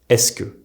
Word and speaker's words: est-ce que: Se becomes the single s sound. This is why est-ce que is pronounced est-ce que, and qu'est-ce que becomes qu'est-ce que.